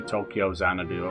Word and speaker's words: Tokyo Xanadu: You pronounce the X as crossed in anime and Japanese games, right? Don't you? Oh, no, people just say Tokyo Xanadu.